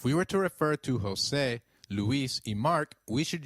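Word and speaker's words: José: the EI in eight the letter J sounds like H in Spanish so try saying Jose it is J you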